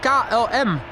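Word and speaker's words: KLM: It is Ka LM.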